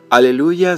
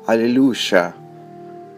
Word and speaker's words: aleluya: En el idioma español, aleluya se escribe A, L, E, L, U, Y, A. Y solamente hay un acento pronunciado sobre la sílaba lu.